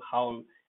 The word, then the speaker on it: howl: Owl is an animal, howl is a kind of shriek, barbaric howl for this. Big shriek, big shout, kind of shout. Okay, so howl, Howl, howl, and owl, two different words, two different pronunciations.